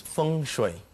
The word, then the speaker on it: Feng Shui: that correctly yes it's fun that's the Mandarin pronunciation that's right and what